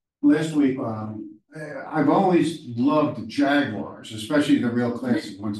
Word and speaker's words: Jaguar: Jaguar. And it's actually pronounced Jaguar.